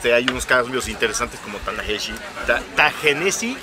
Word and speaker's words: Ta-Nehisi: En unos hay unos cambios interesantes como Ta-Nehisi, Ta-Nehisi, o cómo se pronuncia. Ta-Nehisi Coates. No es Ta-Nehisi, es Ta-Nehisi.